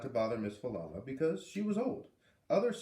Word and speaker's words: Falala: Miss Falala lived in that house. Fa-la-la is how you say her name.